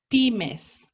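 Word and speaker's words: PYMES: letters we call it pimes that's the pronunciation in spanish remember that these pimas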